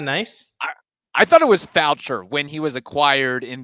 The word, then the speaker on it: Faucher: Look, his name, however you pronounce it, Fauche, I think it rhymes with Fauche, whatever it is. Faucher.